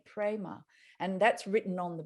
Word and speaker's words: Prema: Universal love in Sanskrit the word is Prema p-r-e-m-a Prima and that's written on